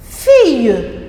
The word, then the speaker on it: fille: On dit c'est une fille. Fille. Fille à 2 syllabes. Regardez bien la lettre I avec 2 L font le son I.